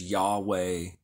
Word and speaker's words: Yahweh: VH or yod vve often pronounced in English as Yahweh or Jehovah um tetr Graton then